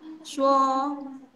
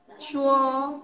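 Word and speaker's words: 说: Kalian udah ulang, shuo, shuo, menggunakan ton ke-1 atau shengtiao ke-1, tinggi datar.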